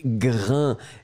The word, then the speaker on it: grain: Donc, le S final n'est pas prononcé. A-I-N. Ça vous donne le son 1. Et donc, on prononce grain.